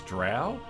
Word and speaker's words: drow: characters racer cuz like I pretty much grew up pronouncing them as drow but I'm saying a lot of people pronounce it as Dro like as in snow and to me that